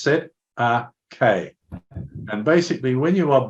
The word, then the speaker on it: Cestui Que: CQB trust is it's the set of K trust pronounced set a k and basically when you